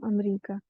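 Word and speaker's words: أمريكا: है, अमेरिका का नाम अमरीका, तो इसमें अल नहीं लगाएंगे। और इसमें अ को अ पढ़ेंगे, इसमें साइलेंट नहीं रहेगा हमजा।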